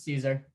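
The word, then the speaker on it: Szczur: teammate and matt caesar am i pronouncing it correctly it's caesar matt caesar uh was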